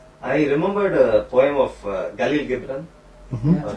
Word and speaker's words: Khalil Gibran: I remembered a poem of Khalil Gibran, mm-hmm. or Gibran, how you pronounce it. Yeah, Khalil Gibran.